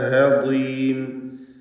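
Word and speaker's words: هضيم: ത്വൽഉഹ ഹദീം. ഹദീം നേരത്തെ ഞാൻ ഹാകളെ കുറിച്ച് സൂചിപ്പിച്ചിരുന്നു, അതിവിടെ ശ്രദ്ധിക്കുക. ബാദിനാണ് ഇവിടെ തഫ്ഖീമുള്ളത്, പക്ഷേ കസ്റായതുകൊണ്ട് ഏറ്റവും കുറഞ്ഞ ലെവലിലുള്ള തഫ്ഖീമാണ്. ഹദീം ബാദ് അതിൻ്റെ മഖ്റജിൽ നിന്ന് ഉച്ചരിക്കാനും ശ്രദ്ധിക്കുക പ്രത്യേകം. വതൻഹിതൂന സാക്കിനത്താനൂനും ശേഷം ഹഉമാണ്, ഇൽഹാർ ഹൽക്കി നൽകി മണിക്കാതെ വെളിവാക്കുക.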